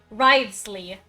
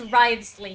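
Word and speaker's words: Wriothesley: uh you would believe how the new cryo Catalyst guy's name is pronounced Rives Ley it's Rives Ley not worst the sh sauce we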